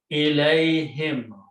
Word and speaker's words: ilayhim: This ya can be written as this, and then whom join with that, but because this is a sound of ya is a sound of kasra, so we pronounce this as a kasra.